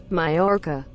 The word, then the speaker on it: Mallorca: Because I don't know how to pronounce this in English. Okay, in the meantime. Okay, Google, take it away. Mallorca.